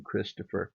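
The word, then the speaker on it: Xtopher: richard parker leonard knight christopher knight spelled x-t-o-p-h-e-r the x represents uh the christ syllable in christopher ephraim knight isaac knight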